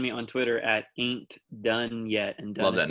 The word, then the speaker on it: Dunne: So Dunne is spelled Dunne.